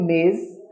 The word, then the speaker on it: Ms: E também a gente tem o Ms, né? Que a pronúncia é quase parecida com a pronúncia do Miss, porém, nesse terceiro exemplo